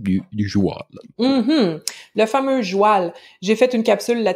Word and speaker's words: joual: chercher un peu plus le mot joêl c'est une déformation du mot cheval cheval joêl - c'est une prononciation qui a été attestée en france en fait donc c'est